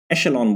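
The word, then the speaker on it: echelon: हमारे पास वो है, इसको बोलते हैं शेलॉन, एशेलॉन बोलते हैं इस वर्ड को, इसका जो प्रोनाउंसिएशन होता है उसको बोलते हैं एशेलॉन। आप गूगल करना है इस वर्ड को तो उसमें बताता है एशेलॉन बोलते हैं इसका प्रोनाउंसिएशन।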